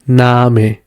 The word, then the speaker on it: Name: But as a long A as in Name. Yeah, you see? Name.